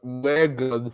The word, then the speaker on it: M3gan: Yeah, so this time the movie I chose was Megan from 2022, the one spelled like M3gan.